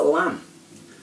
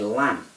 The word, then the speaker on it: lamb: a silent letter in it and it's a lam so as i pronounce it i say lam so if i write it down and spell